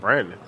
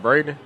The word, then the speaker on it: Braden: Brandon. You meant Braden?